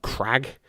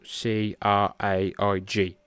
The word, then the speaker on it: Craig: So like Americans can't pronounce Craig properly. You call them Crag, or Craig de George, but it's spelled C-R-A-I-G, Craig.